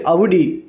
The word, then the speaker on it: Audi: முதல்ல ஆடின்னு அழைக்கப்படுற இந்த காரோட சரியான உச்சரிப்பு பெயர் அவுடி.